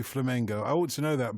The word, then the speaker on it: Flamengo: and by the way I've been corrected in my pronunciation of course it should be Flamengo I want to know